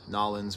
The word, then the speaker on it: New Orleans: Noy style rapper sorry I'm going to be pronouncing New Orleans noin because that's just how I was told to pronounce it once by someone who's